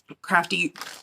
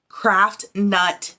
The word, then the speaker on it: Craft Nut: Crafty, I always say it wrong. Craft Nut Yarns. I always try to put the Y somewhere it doesn't need to be.